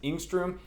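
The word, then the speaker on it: Engstrom: dr ingstroom and my last name is pretty easy to pronounce that is ingstroom though a few people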